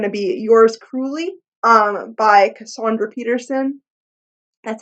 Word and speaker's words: Cassandra Peterson: One of my next book reviews is going to be Yours Cruelly by Cassandra Peterson. That's how you pronounce her name.